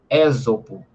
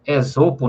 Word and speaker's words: Esopo: O primeiro escritor de fábulas chamava-se Ésopo, ou Esopo, né, como alguns também costumam pronunciar.